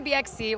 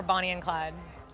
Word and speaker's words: Bonnie X Clyde: Like how would you pronounce it? BXC. We we say BXC or Bonnie and Clyde.